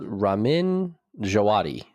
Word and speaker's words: Ramin Djawadi: So it's Ramin Djawadi, which is that's 100% how you pronounce it.